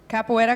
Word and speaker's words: capoeira: to mess it up how do we pronounce where we are capoeira capoeira capoeira got that I know that is Brazilian it is because I hate